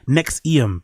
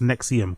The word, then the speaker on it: NXIVM: Is it pronounced Nexum? Okay, cool. Nexium. Big up Andrew and Coiler. It's pronounced Nexium.